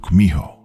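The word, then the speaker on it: 구미호: In Japanese, you've probably heard of it as kitsune, though in Korean it's pronounced kumiho.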